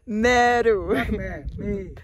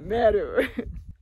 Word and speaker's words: Meru: I keep saying it wrong. Meru. Meru. It's like a sheep. Meru.